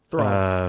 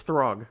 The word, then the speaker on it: Throg: you get frog Thor thog um and you get um it's throg pronounce it correctly sorry and then you